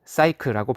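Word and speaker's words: Psyche: 그리스어로 나비는 푸시케다. 영어로는 사이크라고 발음되는데 이 말은 정신 또는 마음과 밀접한 관계가 있다.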